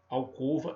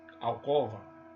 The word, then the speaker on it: alcova: Em vez de pronunciarmos omelete, alcova e crosta, pronunciamos equivocadamente de forma aberta. Pronunciamos omelete, alcova, crosta, crosta terrestre. Não.